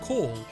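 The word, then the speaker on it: Caul: And that was because the captain used to go by the name of Call, like C-A-U-L. It's pronounced like as in like a phone call, but that's how it was spelled.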